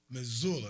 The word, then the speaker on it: Missoula: Jay-Tom been clowning me about pronouncing Missoula right. Missoula.